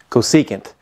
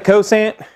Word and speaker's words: cosecant: to show you and this is how you say it cosecant so it's not the Coase aunt it's not the cosine has to go seek it now there is a